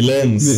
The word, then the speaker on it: Lens: So Sevilla versus Lens. Nisikia pronunciation ni Lens. Anyway, tuko Kenya ni Lens. Ni Lens. Yeah, so, but si lens ya kamera.